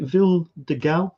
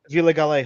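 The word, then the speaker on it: Vila Galé: sort of gastronomic feast over at, was it Ville de Galle? This place here? Yeah. Sorry, Ben, what were you going to say? Villa Galle Hotel.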